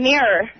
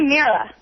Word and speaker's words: mirror: I was into Mira and Mirror. Mirror, yeah. See, I say Mira. Mira. Like Aunt Mira.